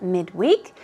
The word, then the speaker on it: midweek: So middle of the week is the definition of midweek. Midweek, midweek, okay? But usually, even when it's used as an adjective, the stress usually goes on the first syllable.